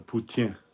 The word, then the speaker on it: poutine: A poutine, if you want to say it like the French.